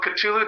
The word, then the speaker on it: Cthulhu: would love to get behind that um so katulu dreamed which is the same spelling as our